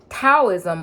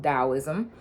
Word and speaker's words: Taoism: that it is called Taoism, but I could be wrong. But I do believe that there's a double pronunciation for that. One of them is Taoism and the other one is Taoism.